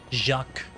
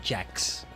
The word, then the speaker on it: Jacques: Jacques. I gotta say it like that. Not Jax. Jack. Jacques.